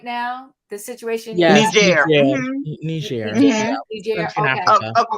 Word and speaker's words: Niger: So so it's pronounced Niger. Am I pronouncing it right now? The situation. Yes, Niger.